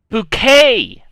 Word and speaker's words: bouquet: Bouquet. Bouquet. It's a bouquet. Spelled like bucket.